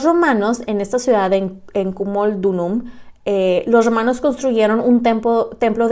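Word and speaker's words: Camulodunum: romanos se establecieron en la ciudad de, se pronuncia Cumaldunum, que ahora se llama Colchester, que está justo debajo del territorio iceno.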